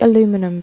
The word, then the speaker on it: aluminum: gold to make a cast to make the aluminum brass i just alloyed together there's the casting